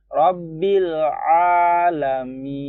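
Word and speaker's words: رب العالمين: Rabbil alamin.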